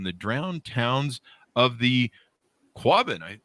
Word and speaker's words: Quabbin: The book is called Before the Flood: Destruction, Community, and Survival in the Drowned Towns of the Quabbin. I'm not sure. Did I pronounce that right, Elizabeth?